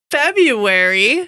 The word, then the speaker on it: February: It's February. Wow, happy February Hooray. to you too. By the way, I always pronounce the R in February.